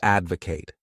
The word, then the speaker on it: advocate: The next wonderful verb is to advocate. This word has 3 syllables, and the stress is on that first syllable.